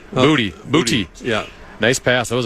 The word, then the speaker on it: Boutte: Well, I remember when he got drafted, there was some discussion about how you actually pronounce his last name. Booty.